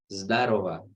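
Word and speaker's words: здорово: Jadi zdarova, tapi ditulisnya ini zdorogo ya, zdorogo, zdorogo, tapi dibacanya zdarova, zdarova, zdarova.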